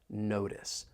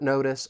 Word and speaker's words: notice: the T in notice I am going to pronounce that as a flap T it's going to sound more like a soft D this is because that t comes between two vowel sounds notice at such short notice